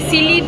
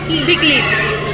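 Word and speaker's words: cichlid: এটা উচ্চারণটা বল। ওই সিলিড, তুই যেটা বললি ওখানে সিকলিড, সিকলিড কেমন সুন্দর কত মাছ।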